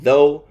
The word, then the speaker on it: though: Sometimes, like in though, they have a long O sound, like dough, and words like donut.